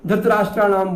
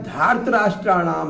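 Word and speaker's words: धार्तराष्ट्राणाम्: हम उच्चारण में दोष कर देते हैं, धृतराष्ट्राणाम बोल देते हैं इसको, नहीं, यह धार्तराष्ट्राणाम है, अपत्यार्थक प्रत्यय है ये।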